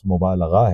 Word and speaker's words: مبالغہ: فرنگ آسفیہ کے حوالے سے اس کا تلفظ مبالغہ ہے، لام پہ زبر ہے، زیر نہیں ہے.